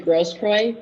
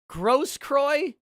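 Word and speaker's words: Grosskreutz: if my client mr gross kroy i would like to say a few words gross kroy that's how you pronounce that name and i would like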